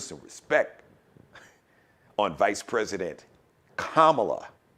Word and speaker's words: Kamala: and kamala hairs and pronouncing her name wrong kamala it's vice president kamala like comma put some respect on